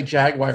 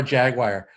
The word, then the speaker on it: Jaguar: I can't even say Jaguar right. How do you say the car Jaguar?